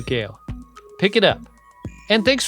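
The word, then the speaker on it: Gehl: Gale. Wow. And that's spelled G-E-H-L in case you're looking up this book by its author.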